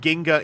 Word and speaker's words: Ginga: the streets, and like, does it mean Ginga, Jinga? I think people see the word Ginga enough to default to the hard G.